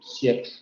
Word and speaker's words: siècle: Entonces, al final de secuencia siempre se va a omitir. A la fin du siècle.